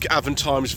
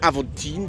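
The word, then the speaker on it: Avantime: Viewers, we like Avent times very much. I'd like to say Avantine because that was hard French person to pronounce it, but no, it's Avent time. That's just the way that it is.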